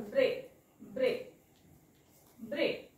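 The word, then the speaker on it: break: दुसऱ्याला आपल्याला झोपवायचा असतो म्हणजे बघा इथे इ ए जोडीमध्ये इ चा उच्चार करतो आपण ब्रेक ब्रेक ब्रेक पण ह्या ए चा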